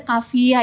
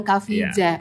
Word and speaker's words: Kafija: Yang benar ejaannya Kavia ya guys, bukan Kavija.